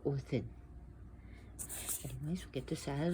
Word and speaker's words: Odin: And the same thing the way Odin is spelled, O-D-I. So you got O-D, then you have this D, then I-N. So Odin.